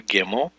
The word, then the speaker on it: gimel: that basically word is the letter gimel we pronunciate this with a hard G as in God and the transliteration is